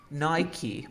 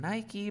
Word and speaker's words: Nike: Habían personas que decían Nike, personas que decían Nike. Se llegó tanto el error que se normalizó decir Nike o Nike. Pero le preguntaron a los dueños y La correcta pronunciación es Nike, que viene del nombre de la diosa griega de la victoria.